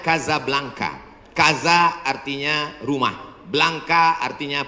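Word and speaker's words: Casablanca: mesjid asam2 di Kota Kasablanka Hai ibukota Maroko tempat saya kuliah nama negaranya Maroko ibukotanya tulisannya casablangca cara bacanya Kadzab langka Kaza artinya rumah Blanca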